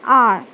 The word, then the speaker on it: hour: An is used before words beginning with a vowel sound or with a letter H when it is not sounded.